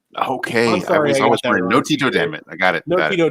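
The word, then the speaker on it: Antetokounmpo: pronounce giannis's last name it is clearly no Tito Dam it that's how you pronounce it okay no Tito Dam it I got it no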